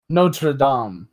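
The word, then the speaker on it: Notre-Dame: ] Cathedral in Paris and say Notre Dame Notre Dom yeah damn it I didn't learn a second language to say y'all can mispronounce it now I'm fluent in English and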